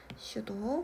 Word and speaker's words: pseudo: 거짓은 영어를 할 때 슈도라고 해요. P는 묵음이에요. 슈도.